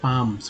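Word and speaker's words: palms: है इकेसिया, पाम, पाम्स, एल का उच्चारण नहीं करना है, पाम्स, पाल्म नहीं पढ़िएगा, पाम्स।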